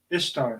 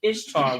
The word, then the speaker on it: Ishtar: It became known as Ishtar, which is pronounced Ish and then Tar, referred to as what?